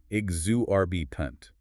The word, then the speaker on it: exorbitant: Exorbitant. E X O R B I T A N T. Exu RB punt.